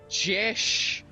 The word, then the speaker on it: Josh: It is pronounced Jesh. I do not go by Joshua or Joshua. You Because are everyone Joshua.